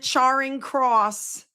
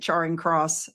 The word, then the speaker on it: Charing Cross: I called it Charring Cross and 50 people said I mispronounced it. I'm sorry if I mis I'm still calling it Charing Cross.